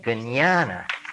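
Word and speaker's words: jñāna: and for some reason they pronounce the J as a hard G Gana like kosis in later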